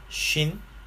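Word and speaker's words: שׁין: 이게 래쉬다라고 하는 것이고, 이거는 R 발음으로 표기를 하시면 되겠습니다. 그 다음에 이게 쉰, 신이라고 하는 두 글자인데요.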